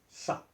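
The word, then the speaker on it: ça: for this and that there's only one letter it called sa can you see it s it is not below the C there is a small tiny s okay that is to tell us you should not be sounded as but it should be sounded s so to be sounded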